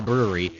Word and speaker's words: Bruery: And we actually have, for our season 2, we are sponsored by The Brewery. It's spelled differently than it's BRUERY.